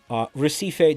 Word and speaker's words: Recife: Recife, these nuts on your forehead.